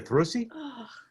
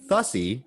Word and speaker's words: thrussy: Wouldn't it be a thrussy? So yeah, we had a problem with the whole pronunciation thing. I apparently was saying boosy, it's bussy, and I was saying thussy, but it's thrussy.